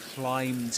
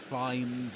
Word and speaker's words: climb: There's another important thing to bear in mind here, which is that in climb the B is silent.